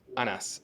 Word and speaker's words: Anas: The second one was right, Anas. Yeah, it's easy Anas, actually.